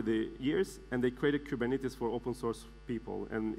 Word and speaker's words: Kubernetes: The right way of saying Kubernetes in Greek is Kubernetes. But Kubernetes, it came out in the US, and people in the US, they tend to mispronounce things, especially in Greek.